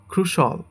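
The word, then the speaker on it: crucial: এটাকে আমরা বলি ক্রুশিয়াল। বাট এটা হবে ক্রুশল।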